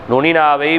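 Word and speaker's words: نون: நூன் நூன் சரி சரிங்களா நூன் எப்படி நாவின் நுனி மேன்முரசில் நுனியின் படுமாறு உச்சரித்தல் நூன் நூன் நூன் சரி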